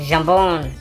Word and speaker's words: jambon: You got the jambon. Is that how you say it in French? Jambon? Yeah. Jambon?